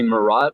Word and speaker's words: Marat: interview so you know he was calling me marat with the proper a sound and i was i